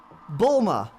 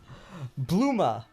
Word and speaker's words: Bulma: Bulma, bam. Take that. Bulma. Yeah. Bluma, as some people pronounce it. I'm like, okay, says Bulma on her shirt, but okay.